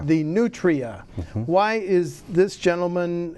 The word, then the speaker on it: nutria: But I want to open with this picture of this furry little, I almost said cute, how do I pronounce this? The nutria. The nutria.